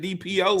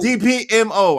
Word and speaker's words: DPMO: You said DPO. DPM O. I said DPMO.